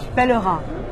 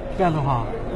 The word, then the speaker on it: Pellerin: Let me get this Miss Pellerin, how do we pronounce this in French? Pellerin. Pellerin.